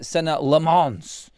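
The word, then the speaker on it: Senne Lammens: Taking away the fun and the Mancunianness out of my show, but it is Senna Lammens is our new goalkeeper. That's how he has pronounced it on a video put out on YouTube at Manchester United today.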